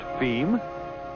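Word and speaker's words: fim: And as for distribution within Brazil, F-I-M, pronounced FEM, being, yes, you guessed it, Portuguese for the end.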